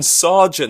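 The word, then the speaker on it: Sargeant: little interesting connection his team was Logan Logan Sergeant that's how you pronounce it and that's interesting and when I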